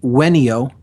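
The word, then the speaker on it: venio: the Latin verb uh there's really not a v Sound In classical Latin it's pronounced with a W so it v n IO is the verb and it's pronounced weno weno wener wus and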